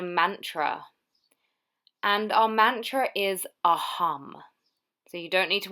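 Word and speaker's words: अहम्: focus on a mantra and our Mantra is aam so you don't need to worry about how it's spelled or anything like that it's aham and it means I am so to yourself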